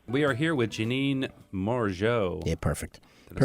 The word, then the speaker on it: Morigeau: We are here with Janine Morigeau. Yeah, perfect. Did I say Perfect that right?